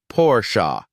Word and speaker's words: Porsche: German brand is pronounced pora with an extra emphasis on the a at the end treat each syllable with